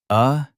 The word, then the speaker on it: atrocity: Say it with me. A-tros-e-t. 4 syllables, stress on the second.